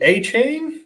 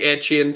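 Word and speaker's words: Achane: you go with Devin a chain is that how we pronounce his name I'm still a little behind on that yeah I think I think air chin seems Seems about right yeah he always reminds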